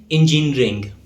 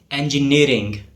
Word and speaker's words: engineering: It is often mispronounced as engineering. But the correct pronunciation is engineering. The stress falls on the second part of the word nearing.